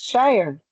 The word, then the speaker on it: Shire: Yes, Shire. You said it right.